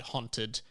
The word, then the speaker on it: haunted: Over the past few weeks, man, there's been a huge amount of discourse around my pronunciation of the word haunted, which for those who don't know is spelt H-A-U-N-T-E-D.